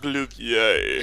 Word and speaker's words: Glovier: Glovier. But it's pronounced Glouvier.